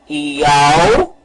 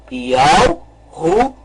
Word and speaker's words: Yahushua: Então vamos pronunciar o nome. Yahushua. Vamos novamente pronunciar. Yahushua. Este é o nome correto.